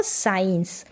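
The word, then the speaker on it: science: और वाई आएगा तब हम एससी को स पढ़ते हैं। क्या पढ़ते हैं? स जैसे कि एस सी के बाद में यहां इ है। यहां पर भी आई है। तो इसको पढ़ेंगे सीन और इसको साइंस।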